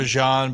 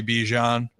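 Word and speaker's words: Bijan: Well, it's also like Bejan was supposed to be Bjon, but then he's like, I like when people call me Ban.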